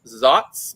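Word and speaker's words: Saaz: went over that pronunciation it looks like SZ it is not SZ it is zots because it's a German hop hey pretty awesome oh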